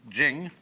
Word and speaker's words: Jing: it's pronounced De, and Jing, there is no apostrophe after the CH, so if there were, it would be pronounced Ching, but it's Jing, like a J.